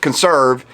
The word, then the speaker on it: CNSRV: Consrv, CNSRV. That's how you pronounce it, Consrv.